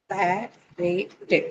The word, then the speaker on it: comparative: Comparative. Yes, 4. So where are you going to mark it? This is easy. Pair. Pair. It's on pair.